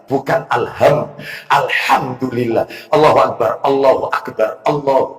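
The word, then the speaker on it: الحمد لله: alhamdulillah alhamdulillah alhamdulillah alhamdulillah apa ini delam delam delam delam apa ini I mestinya Alhamdulillah bukan alham Alhamdulillah allahu akbar allahu akbar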